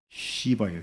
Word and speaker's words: 시바: 이 발음을 좀 잘해야 돼요. 시바예요, 시바. 시바.